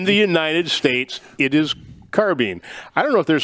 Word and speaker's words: carbine: some toes on this one that's okay okay pronunciation it's carbine okay in the united states it is carbene i don't know if there's some video games